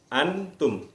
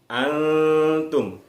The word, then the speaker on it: antum: Jadi seperti antum yang anak-anak lihat, jadi tidak dibaca antum. Kalau dibaca antum itu bacanya jelas, nunnya terdengar jelas, antum. Tetapi dibacanya samar, antum. Kenapa dibaca samar? Karena bunyi nun mati masuk ke dalam bunyi berikutnya ta.